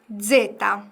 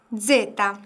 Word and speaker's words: zeta: zeta, 제타. 요거는 뭔가 모기 소리? 네, 모기 소리가 약간 난다라는 생각으로 발음해 주시면 될 것 같아요. 제타. 발음 한번 다시 해주시겠어요? zeta.